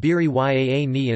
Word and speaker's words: biryani: In the local dialect Malayalam, there is a small variation in pronunciation. It is called biri yaani instead of biryani.